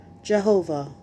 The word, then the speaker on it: Jehovah: In English, it is usually pronounced Jehovah, but some people pronounce it Yahweh.